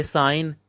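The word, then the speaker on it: sign: यह साइन, यह रिज़ाइन।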